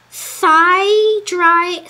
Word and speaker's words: thyme: Season with black pepper, thyme dried, what? Oh, thyme. Thyme. Why do we pronounce it time but spell it with a th as though it were thyme?